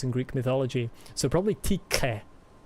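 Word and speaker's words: Tiche: So probably TK. That would be how that would be pronounced in ancient Greek.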